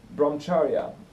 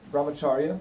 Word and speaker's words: brahmacharya: thoroughly and next one bromcharia brahmacharya I think it's pronounced and in the very